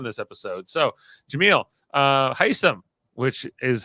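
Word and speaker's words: Hisam: we got on this episode so Jamil uh hysim which is how you say his name is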